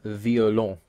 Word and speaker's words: violent: Next example, il viole un homme violent. The first means they violate, and because it's a verb, the ENT is silent. The second word, violent, is an adjective, so the EN is pronounced.